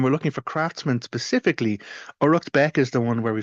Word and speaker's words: Uraicecht Becc: which is known as aratbeck and so that's spelled U R A I C E C H T and it is Beck BCC.